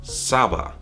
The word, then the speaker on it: saba: language, that in English, you would add a couple of A's to this word, and you would pronounce it as saba.